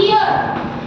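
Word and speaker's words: heir: Like this ईयर, इसका मतलब होता है उत्तराधिकारी, यस समझ N, very nice, because H यहाँ पे क्या है? साइलेंट है, ठीक है?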